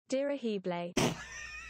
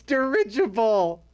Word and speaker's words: dirigible: is it still broken dear ahiblai no no it's not durable it's dirigible oh why why is